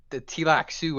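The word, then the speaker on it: Tleilaxu: So Duncan Idaho gets kidnapped by these guys called the Tilak Sioux, I think is the pronunciation of it, and they turn him into a They turn him into a Gola.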